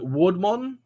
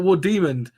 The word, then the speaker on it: War Demon: Is it Wardmon? Wardmon? War Demon? Oh, is it War Demon? Fuck! I kept saying like the war like Warden.